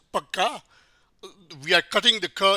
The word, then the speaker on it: पक्का: because the ka is, the middle ka is pronounced half or less, pakka, we are cutting the ka in the middle and connecting with the consonant that it follows, right?